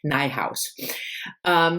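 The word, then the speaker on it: Nijhuis: has the website and the website is called rhymes with my house so i guess she pronounces her name nigh house this is just what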